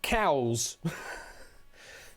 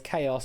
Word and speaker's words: chaos: Looks it's cows. No, it's chaos, I'm afraid.